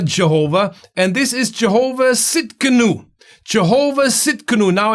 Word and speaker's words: Tsidkenu: it's a little bit the spelling is a bit weird it's a bit different we are not used to it but it's a silent t at the beginning but if you go